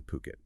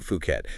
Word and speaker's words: Phuket: They're a luxury real estate agency actually based in Puket. And it's crucial to get that pronunciation right. It's Puket. Yes, Puket. Definitely not Phuket.